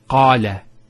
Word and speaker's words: Allah: here are some words first one here is Allah notice the elongation of the a sound so we have the